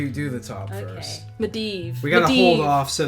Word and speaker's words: Medivh: medev 11 who says emphasis on the second syllable med medev got it medivh media got it sorry